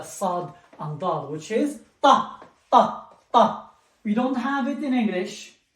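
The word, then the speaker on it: ط: It is a very strong T. We say ta.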